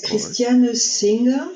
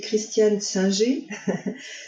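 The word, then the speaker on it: Christiane Singer: if it's okay it's cristiano singer she's got a german sounding name actually actually we say christian sanji she wrote in french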